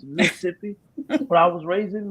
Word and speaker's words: Mississippi: for y'all know who don't know how to pronounce it correctly it's Mississippi but I was raised in Mississippi and um